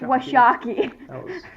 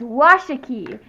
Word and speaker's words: Washakie: like at the Museum they pronounced the chief Washakie as chief were shocking anybody who lives close to Worrell endure or Wyoming or Thermopolis you know that it's Washakie not what shocky and there was also